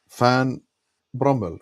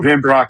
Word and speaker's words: Van Brock: Fan Bromel. No, Fan Brock. No. Van Brock.